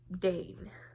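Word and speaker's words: Dain: does have a friend named Dane I think that's how it's pronounced d a i n who is a childhood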